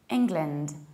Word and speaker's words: England: whereas we should say England, England. So what happens? We need to reduce the beginning and say ing, and also reduce the ending and say lind. It's not land, it's lind. England, England.